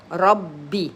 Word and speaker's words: ربي: Ra, fatha, ba, kasra, and there is a shadda. Rabbi, Rabbi.